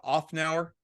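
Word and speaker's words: Szafnauer: his last name correctly offnow the S and the Z are I think believe or silent so it's otmar off now and if I my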